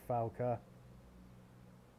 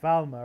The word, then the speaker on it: Falmer: thing looks disgusting bloody fala I know they're called Falmer aren't they not falers got the name wrong Rift and Stables you